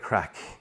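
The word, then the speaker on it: craic: But the other thing about it is it's also great crack, and in the Irish sense of things.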